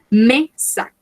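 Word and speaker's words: mes sacs: Recordemos que no pronunciamos S. Me sac.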